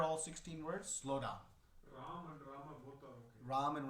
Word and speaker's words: Rama: 16 words slow down ram and ram are both okay there that has been uh you can pronounce it in one or two it is technically rama two syllables but yes in the